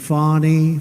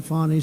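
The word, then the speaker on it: Fani: local attorney generals and fonny fny you know fonnie spelled f a n i my name is fonny f a n i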